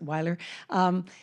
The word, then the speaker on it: Weiler: I pronounce it Weiler.